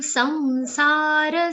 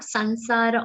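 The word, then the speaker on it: संसार: Sa has an anuswar, which is going to be pronounced like a nasal ver consonant. Samsara and not sansara or samsara.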